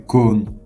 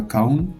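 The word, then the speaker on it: कौन: Qui, c'est Kon. C'est pas Kaun, c'est Kon.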